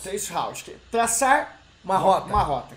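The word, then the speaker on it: traceroute: Pronuncia isso aqui pra mim. Trace route. Trace route.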